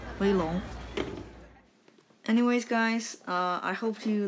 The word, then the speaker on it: Weilong: community a better place start now by saying boy you've a long instead of more you wait long ok so yeah the company is actually called boy you pronounce correctly and then the most popular cube series is wait long anyways guys I hope